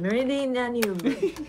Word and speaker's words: Meridianum: And then of course, the Praetorium and the Castrum Meridian, sorry, I can't pronounce it. Meridianum.